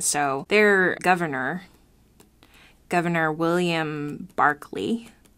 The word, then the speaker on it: Berkeley: their governor governor William Barkley spelled Berkeley but pronounced Barkley I don't know why